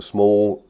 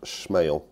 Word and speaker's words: SMAEL: So we're going to take a look at this watch today, the small 8008. Well, I think it's actually pronounced SMAEL, but the thumbnail wouldn't work if I'd have done that.